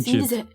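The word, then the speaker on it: Fiennes: além do fines, porque eu falo finho fines, tá gente? Eu não sei se é assim a pronúncia, mas não é R, não é Ray.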